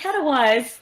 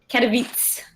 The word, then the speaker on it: Katowice: I was like, everyone, I'm going to Katowice. No. So what is it, Katowice? Katowice, pretty much. Well, as I also kept saying, like, Katowice, I think that's wrong, so...